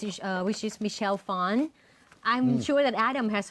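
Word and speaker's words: Phan: Michelle actually people um lots of people would pronounce her last name as fan but she used to make a video about how to pronounce her last name which is fwn I think it's Vietnamese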